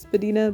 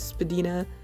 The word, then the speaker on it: Spadina: Although it's smaller and less famous than its neighbor, the Casa Loma, the Spadina, it's apparently supposed to be pronounced Spadina, but I mean, not even the voice on the subway does that.